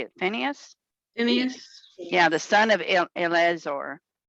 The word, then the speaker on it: Phineas: on the west side of the jordan river vienna finis how do you say it phineas yeah the son of elizor what did he